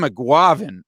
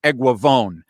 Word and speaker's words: Eguavoen: a shout out to sam mcguaven i mean sam excuse me he pronounces it sam eguavon sam eguavon was a